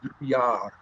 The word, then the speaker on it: Drouillard: I-double-L is pronounced with like a Y sound. Yeah, so it should be Drouillard.